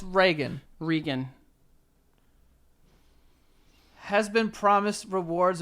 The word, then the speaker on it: Reagan: We are not confined by the way words are pronounced in order to rhyme them. So Tegan and Regan absolutely work. Well, it's Reagan.